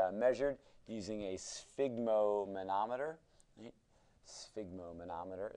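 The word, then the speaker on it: sphygmomanometer: using a spigo manometer spigo manometer is how you say that so uh if we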